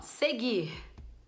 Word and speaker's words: seguir: U Ok então ó Seguir Seguir eu não escuto eu não falo seguir falo direto então teve Gu e